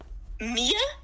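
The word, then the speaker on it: Miya: Is it pronounced Mia? Yeah, that's what I accidentally said because I was stupid and tired.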